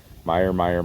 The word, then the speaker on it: Meyer: Meyer, not Mayer, Meyer.